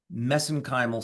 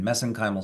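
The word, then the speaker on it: mesenchymal: Uh that's how they pronounce it over in Ireland. We pronounce it differently here in the in the US but I use the Irish pronunciation messenymal stem cells.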